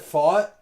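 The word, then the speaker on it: Pfadt: Is it fought? Is that really how you say it? It is in your in in your city, dude. So, I believe you.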